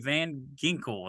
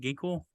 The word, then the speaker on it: Van Ginkel: followed by Van Ginkel. That's how you say his name, Ginkel, for the yes.